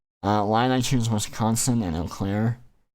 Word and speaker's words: Eau Claire: Line I choose Wisconsin and Eau Claire. Eau Claire rhymes with the word air, and I remember seeing the name of that city when I was driving through Wisconsin 2 years ago.